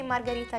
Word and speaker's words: margherita: the muscles here how do you say in english margarita is that closer it's closer it's closer than when i'm trying margherita margarita yeah so how do you say margarita in english margarita so